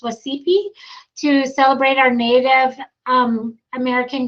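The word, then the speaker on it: Wacipi: I think it's pronounced Wasipi, to celebrate our Native American graduates.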